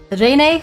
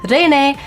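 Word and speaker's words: Reine: They actually had both Kiara and um uh Pavlia Rene whose name I always want to pronounce as uh Ren which means queen in French because I speak French.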